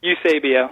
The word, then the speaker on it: Eusebio: How do you say his last name? Eusebio. Eusebio. There you go.